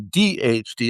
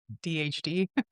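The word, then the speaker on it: AuDHD: A U DHD okay thanks nur um say the U like you would say the first syllable of autism. So, uh, DHD, uh, DHD, uh, uh, DHD.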